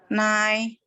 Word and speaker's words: 奶: Nada 2 itu kan tadi nada 1 tuh kita datar ya. Naik. Nah, begitu nada 2, sebab tandanya juga naik ke atas.